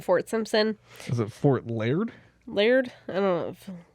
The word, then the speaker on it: Liard: Is it Fort Laird? Laird? I don't know. Laird. It's spelled like liar, but with D at the end.